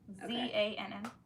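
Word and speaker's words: Zann: Z-A-N-N. Zan. Okay, she phonetically spelled it.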